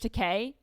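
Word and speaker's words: Takei: So, how do you pronounce this guy's last name? Teay. George Teay.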